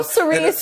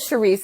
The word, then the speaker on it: Cerise: No, Cerise. Cerise, did I say it wrong? You said Charisse. It's Cerise.